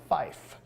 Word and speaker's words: fife: sound so we say Fife so to pronounce the number five we say Fife for three we say tree